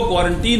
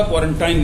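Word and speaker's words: quarantine: यहां पर उसका अपवाद हो गया, ये आइंस्टाइन होगा, आइंस्टीन नहीं होगा, लेकिन वो क्वारंटीन होगा, क्वारंटाइन नहीं होगा, ये ध्यान रखिए।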